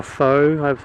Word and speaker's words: faux: F A U X forks or faux. I think it's pronounced faux fur.